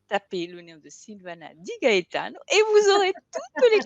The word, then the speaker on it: Gaetano: Di Gaetano avec la musique qui va avec, à l'italienne.